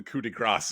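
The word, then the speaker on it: coup de grâce: I don't know what the coup de grace is. That's not a thing. You don't pronounce the S in that.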